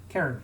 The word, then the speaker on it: Cairn: to pronounce it again karen karen like karen bloodhoof from uh world warcraft okay karen is it's spelled c-a-i-r-n and it is like